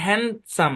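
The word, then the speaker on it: handsome: আচ্ছা চলে তারপর দেখি আরো কিছু শব্দ ডি সাইলেন্ট থাকে যেমন হ্যান্ডসাম দেখেন এটা কিন্তু কম্পাউন্ড ওয়ার্ডের মধ্যে পড়ে হ্যান্ড মানে হাত সাম মানে কি?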